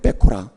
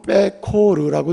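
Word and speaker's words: בכורה: 본래 첫 새끼 처음 난 것 하면 히브리어로는 빼코라 그래요. 빼코라. 한번 따라해보세요. 빼코라 또는 빼코르라고 읽어도 되는데, 어쨌든 빼코라는 첫 새끼라는 뜻이에요.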